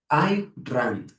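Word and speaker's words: Ayn Rand: Hay hay una filósofa, bueno, yo creo que ya está muerta, que se llama I Rand. Ya se escribe a Y n rand, como suena.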